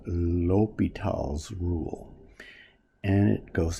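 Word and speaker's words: L'Hôpital: rule though it's called l'hopital's rule l'hopital's rule and some textbooks spell it the way i did our textbook spells l'hopital as if the word opital was hospital and apparently that's how you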